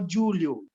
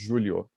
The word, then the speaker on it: Julio: Julho is pronounced the same as the name. There's a name Julio, but the name I'll put it in the chat. The name it's written a little differently, but you pronounce it the same.